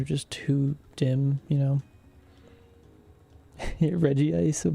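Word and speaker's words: Regice: Reggie Ice for how to pronounce it. I feel like that's what it should be cuz it's Reggie Rock, Reggie Steel, and then Reg Ice. No, no, Reggie Ice.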